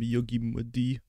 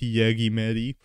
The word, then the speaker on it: Yogi Modi: and I am Yogi Modi that is how you say my name I will not accept yagi Maddie if you say that